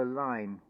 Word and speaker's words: align: So all the cogs have got to align. And notice in that word align, you've got that silent letter G.